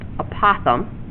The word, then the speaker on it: apothem: Now the apothem, that's pronounced apothem, is a segment from the center to the midpoint of each side.